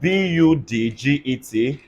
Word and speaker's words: budget: Whenever D and G come together in a syllable, or D and J come together in a syllable, they just give us this sound called ja. Everybody say ja. Ja. So in a word like BUDGET, everybody say budget. Budget.